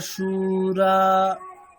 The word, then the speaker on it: शूरा: দীর্ঘ আছে, ওটা হ্যাঁ দীর্ঘ উ আছে, তাহলে আপনি ওটা হ্রস্ব উচ্চারণ করলেন। আচ্ছা কিরকম হবে? অত্র সুরা, দুটোকেই টানতে হবে।